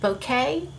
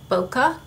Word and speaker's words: bokeh: the internet it is uh pronounced some people pronounce it bouquet and some people pronounce it bokeh but whichever way you like to pronounce it